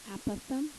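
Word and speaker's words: apothem: this word right here aatham aatham is how you say it it's a pretty cool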